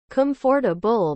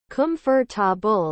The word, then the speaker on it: comfortable: still sometimes stumble and pronounce it with the same rhyme as convertible comfor a bull but really quickly kumfor bull I wouldn't think twice